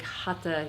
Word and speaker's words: hatha: it's basically a classic hata yoga hatha yoga or hatha but hata is the more sanskrit some pronunciation but I do vinyasa